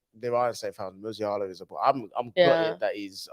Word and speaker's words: Musiala: Yeah, listen, Masala is pronounced right. Musiala, sorry. I don't say Masala.